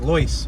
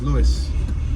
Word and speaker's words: Lewis: right on lewis street it looks like lois but it's lewis i think the o is silent it doesn't look like